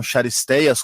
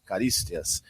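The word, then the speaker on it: Charisteas: Aí eu falava dos nomes dos jogadores e era corrigido na pronúncia. Então, Charisteias, como nós chamávamos aqui, como é que se pronuncia? Caristias.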